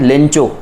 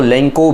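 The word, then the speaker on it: Lencho: ये एक फार्मर की कहानी है जिनका नाम है लेंचो. लेंचो भी कहा जाता है और इंग्लिश प्रोनाउंसिएशन जो है वो लेंको भी है, ठीक है.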